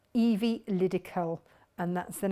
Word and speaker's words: Evilydical: E-V-I-E, so Evie, and then Liddy, L-Y-D-I, and Callum, C-A-L, Evilydical, and that's the name of the fabric company.